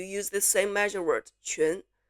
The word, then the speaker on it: 群: And also for qi, like my given name has this character 群, which is very hard for English speakers to make because it contains this qi as the 声母.